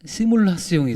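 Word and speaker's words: simulation: 이걸 프랑스 발음으로 하면 시뮬라스용이 돼요.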